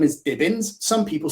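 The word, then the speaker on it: Dibins: pronounce pronounce my name so my name is dibbens some people spell it d-i-b-e-n-s so my mind i've got divins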